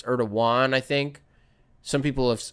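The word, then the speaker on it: Erdoğan: Erdogan. Is that how you say it? Not Erdogan. It's Erdogan.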